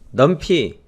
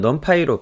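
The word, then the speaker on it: NumPy: 파의 패키지에 대해서 소개하겠습니다 넌 파이는 넘 p 또는 넘 파이로 발음을 해요 파이썬을 이용한 과학 컴퓨팅의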